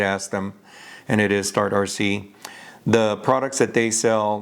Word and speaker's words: STARTRC: i was trying to figure out how to pronounce the company name i did ask them and it is start rc the products that they sell that i i